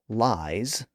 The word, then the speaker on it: lies: So in a word like lies, spelled L-I-E-S, we actually pronounce that final sound as Z.